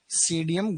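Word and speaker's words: Psidium: सीडीएम गुआ जावा सीडीएम गुआ जावा लिखो सीडीएम गुआ जावा अंग्रेजी में पी साइलेंट रहता है ऐसे लिखते हैं इसको है ना सीडीएम सीडियम गुआ जावा सीडियम गुआ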